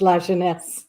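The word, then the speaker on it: LaJeunesse: So, it's pronounced La Jeunesse.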